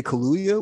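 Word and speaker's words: Kaluuya: bring in daniel i i always mispronounce his name like he wanted to say say kaluya which is like one of my favorite alcoholic drinks oh yeah yeah all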